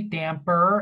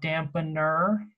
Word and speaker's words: damper: And I like that we are saying it correctly, damper and not dampener.